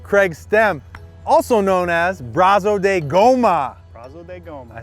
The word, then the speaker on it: Brazo de Goma: i'm here with craig stem also known as braso de goma gomez i said it right you said it